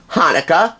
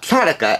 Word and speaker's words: Hanukkah: that be for thanksgiving hanukkah or chanukah as some people pronounce it or christmas but